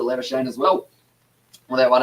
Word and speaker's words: Labuschagne: South Africans, it is Lavascakini that you do pronounce it, but Labuschagne, he calls himself Labuschagne, and also his father with the last name Labuschagne calls it Labuschagne as well.